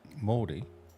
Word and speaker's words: Mordy: Mystic Maori followed us 2 days ago. 25 followers. Yeah. Who's Mystic Murray? What? Mystic Mordy. Mordy's how you say it, actually.